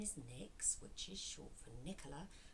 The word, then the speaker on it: Nyx: My name is Nyx, which is short for Nicola, and it's spelled N-Y-X, like the goddess for night.